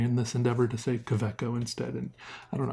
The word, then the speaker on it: Kaweco: gonna start saying Quebec oh I've been saying could we go for a long time but I feel like kvitko is a lot closer to the correct and intended pronunciation so will you support